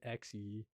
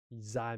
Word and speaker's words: Zai: My name is pronounced Zai, by the way. That makes a lot of sense. Sorry, I keep saying Xe. Zai makes sense.